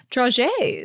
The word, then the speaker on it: dragée: It's draggy? It's draggy. It's got a thing over the first E. Uh-huh. And I looked it up. It said dragée.